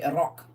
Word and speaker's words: Iraq: for Iraq ir and people in Iraq still say that right now they say Iraq not Iraq they say